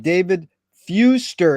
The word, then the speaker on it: Fewster: and a pleasure to be here today with David Fuster is that the correct way to pronounce it yes where in the heck you